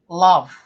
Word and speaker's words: love: Não é lo, love. Ok? Então, todas essas palavras tão comuns que terminam com a letra E, a letra E é muda. Vocês não devem pronunciá-la, ok?